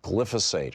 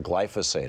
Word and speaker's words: glyphosate: with troubling levels of glyphosate or glyphosate. I've heard it pronounced both ways.